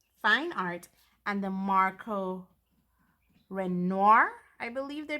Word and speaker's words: Renoir: So today we'll be looking at the Marco Raffine Fine Art and the Marco Renoir, I believe they pronounce it, Fine Art.